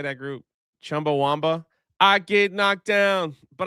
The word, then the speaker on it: Chumbawamba: Chumbawamba.